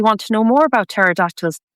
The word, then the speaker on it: pterodactyls: I really want to know more about pterodactyls. Never knew it was started with a silent P.